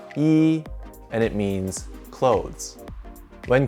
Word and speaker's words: 衣: similarities with the ancient character this character is pronounced e and it means clothes when combined with another